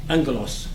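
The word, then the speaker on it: ἄγγελος: And GG are pronounced like ng in English, angelos, messenger.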